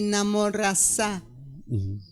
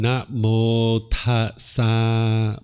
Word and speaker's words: namo tassa: No, I mean, Namo Tassa, you say Namo Rasa. I'm saying Namo Tassa Bhagavato. Okay.